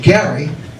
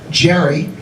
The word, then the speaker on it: Gerry: Elbridge Gerry, who is known to future generations usually by a mispronunciation of his name, Jerry, because of the what?